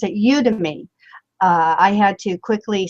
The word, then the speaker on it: Udemy: so it's not you it's not you Demi because then that sounds like you dummy you know so you